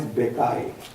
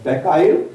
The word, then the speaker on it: Bucaille: His name is Maurice Bucaille. English people, they pronounce it as a Bucaille, but it's Maurice Bucaille.